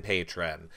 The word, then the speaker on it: Patreon: look I know a lot of people are saying it's patreon now it's always been Patron they called a patron when they came out I'm never calling a patreon to say it the way it's spelled I don't care it's Patron you're all patrons and we